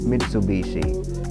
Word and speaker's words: Mitsubishi: Putting the two together via some quirks of Japanese pronunciation result in Mitsubishi, the three diamonds.